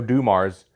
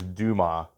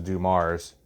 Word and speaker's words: Dumars: I used to think it was Dumas because I never heard him say the end when it was Dumars.